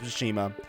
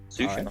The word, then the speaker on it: Tsushima: We're about to go to Tsushima.